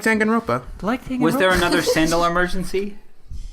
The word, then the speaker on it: Danganronpa: Danganronpa, and I've Sounds like you're pronouncing that wrong. no, it's Danganronpa. Danganronpa. It's Danganronpa. But people that I listen to say Danganronpa. Ropa, like the Spanish word for...